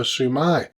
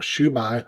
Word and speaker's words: siu mai: the salt and pepper sumai or shumai however you want to say it or spell it or pronounce it so a generous portion